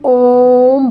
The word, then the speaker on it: ओम: का उच्चारण करते समय जब हम ओम बोलते हैं तो हम ओ को जितना लंबा खींच सकते हैं उतना लंबा लंबा हमें उसे खींचना है फिर उसके बाद ओ